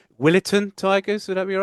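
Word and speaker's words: Willetton: And that would be again I try the pronunciation Willitin Tigers. Would that be all right? Yeah, the Willis Tigers. Spot on. I'm getting good with these pronunciations.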